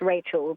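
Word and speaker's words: Rachele: that right no so my name is pronounced Rachel but it's spelled r a c h e l e like relle oh yeah I would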